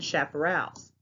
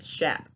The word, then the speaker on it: chaparral: But that's how you say it. Chap. It's not chap. The CH sounds like an SH.